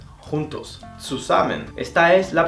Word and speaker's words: zusammen: La Z, al principio de la palabra, se pronuncia como una TS. Por ejemplo, das Zimmer, la habitación. Das Zimmer. Zusammen, juntos. Zusammen.